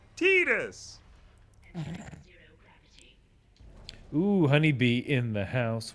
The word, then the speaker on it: Tidus: x everyone knows oh crazy about blitzball it's pronounced tidus ooh honeybee in the house what up what